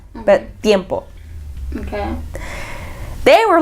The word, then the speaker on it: tiempo: Tiempo, like when you say tiempo, it's spelled with a T but you don't pronounce the T.